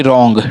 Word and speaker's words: wrong: और आर से पहले अगर डब्लू आ जाता है, तो हमारा डब्लू वहाँ साइलेंट होता है। जैसे कि रॉन्ग, WRONG, रॉन्ग, लेकिन अगर डब्लू ना भी रहता है तो आप पढ़िए RONG, रॉन्ग। और राइट में भी यही हाल है।